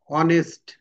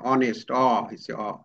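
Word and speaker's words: honest: মত হয় যেমন এখানে অনেস্ট অ এইচ এর উচ্চারণ কিন্তু হ না এখানে অনেস্ট অ্যা আওয়ার অ আওয়ার হরস কিন্তু হরস বললে কিন্তু হ।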